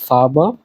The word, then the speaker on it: Farbe: এগুলো দেখলে আমরা একটু চেষ্টা করব গলা থেকে উচ্চারণ করার তো রং and days D ফারবা and plural D ফারবেন নেক্সটে আসি এই যে